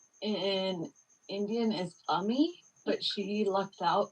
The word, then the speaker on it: Ami: No, her name in Indian is Ami, but she lucked out. It's spelled AMI, so everyone calls her Amy.